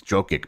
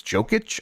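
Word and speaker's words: Jokić: I always want to say his name is Jokic, but it's Jokic, I think.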